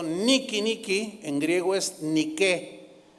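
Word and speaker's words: Νίκη: meta por cierto esa palabra que él él pronunció Niki Niki en griego es ni que bueno el primer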